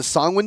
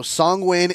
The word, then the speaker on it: Songwin: So Songwin is how you pronounce their name. If you get it wrong, wait, we will find Songwin. It's like Penguin. Song-win. Or like penguin, yeah. Songwin. You take the win from penguin and you take the